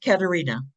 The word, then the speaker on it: Katerina: Is it Katrine? Not Katrine. How do you pronounce her first name? Katerina.